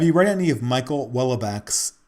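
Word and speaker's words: Houellebecq: read any of michael welbeck's it's called it's um it's pronounced well back i think well back yeah even though it looks like hollaback um have you read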